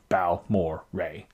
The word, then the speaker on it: Balmorhea: a Texas State Park the name balore comes from four guys Ed Balcom HD Morrow and John and Joe Bal Mo Ray that's how you know you're pronouncing it right the nose on this